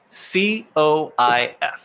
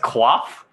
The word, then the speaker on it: coif: Okay, first one, 4 letters, COIF. COIF? Mm-hmm. You mean coif? I don't I believe it's pronounced quaff, but Quaff.